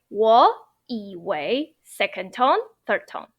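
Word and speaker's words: 以为: into second tone, but you need to pronounce it as second tone, otherwise it sounds not naturally, or it doesn't sound like how a native speaker would talk like.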